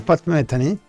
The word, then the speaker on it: Pat Metheny: temas sueño en el retorno bueno aquí la pronunciación es pat metheny más tienen pero bueno pat metheny ese círculo